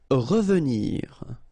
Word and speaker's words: revenir: Revenir, okay? Remember that is pronounced really like a.